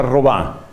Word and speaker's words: Robin: Se escribe Robin, por supuesto se pronuncia Robá.